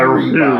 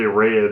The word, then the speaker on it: Rhea: Our resident ninja warrior that got her ass whooped by Rhea Ripley. Everybody pronounces this girl's name wrong. Well, a lot of people say Rhea instead of Rhea.